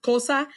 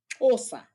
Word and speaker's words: Xhosa: in you said uh, kosa. Actually, it's pronounced osa. Ah, It's Osa. like there's a click sound to it.